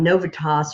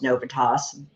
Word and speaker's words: Novitas: now I was on novitas or novitas however you want to say it um they officially call themselves novatos because they say it like 90 times when you listen to anything they're presenting but I was listening